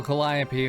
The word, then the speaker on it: Calliope: Here we go, Calliope. Her name was mentioned once already. Well, that's so much better. A proper welcome now that you can see me. I am, of course, Calliope, or rather a projection of her.